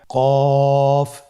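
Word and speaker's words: ق: কফ উচ্চারণের ক্ষেত্রে অবশ্যই 3 আলিফ টেনে পড়তে হবে।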